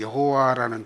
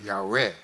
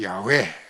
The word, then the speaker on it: 야훼: 그래서 요즘 학자들이 다시 이제 고고학적으로 연구를 해보니까 이게 여호와라는 발음이 아니고 여호와는 이제 아도나이, 아호와 요거를 붙인 것뿐이고 실제 발음은 야훼다. 그게 밝혀진 거예요. 그래서 요즘 배웠다고 하는 목사님들은 야훼, 그게 바로 야훼 또는 야훼, 우리는 정확히 발음을 못하죠.